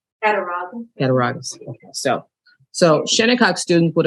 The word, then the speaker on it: Cattaraugus: If anybody would like to correct my pronunciation. Cattaraugus.